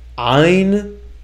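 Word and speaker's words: ע: Now, notice it's not ein, but it's ein.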